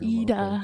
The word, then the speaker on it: Iida: Ida. Ida. Well, I think Idea. Ida.